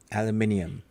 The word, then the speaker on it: aluminium: it's not right aluminium I love the way that British say aluminium however if you were to spell that out it does not actually spell aluminum you you have ant say it you have an extra eye in there some place don't you bring